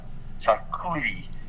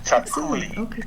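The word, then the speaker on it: txakoli: It's a little white wine, and it's called chaculi, and it's spelled T-X-A-K-O-L-I. And chaculi, and that's what you drink.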